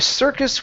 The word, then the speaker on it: circus: instead of circus okay the i r is an R sound uh the circus with three monkeys the